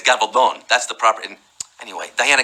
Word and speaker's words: Gabaldon: We ignorant Americans pronounce it Gabaldon. Gabaldon. Gabaldon. In Spain, it's Gabaldon.